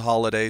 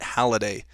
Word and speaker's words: Halliday: spelled Holliday and I always get called a holiday so I kind of respond to both but we've always pronounced it Holliday I'm not quite sure why that is if